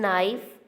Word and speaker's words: knife: In knife, K is a silent letter.